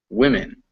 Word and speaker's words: women: to min, it's always, the only part that changes when you pronounce it is the w to wit. It's always min at the end. Woman, women.